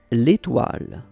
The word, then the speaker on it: L'étoile: Letoli? Hold on a moment. Letoli. I'm gonna have to look up how to say that. Alright, you guys, it's pronounced... L'étoile.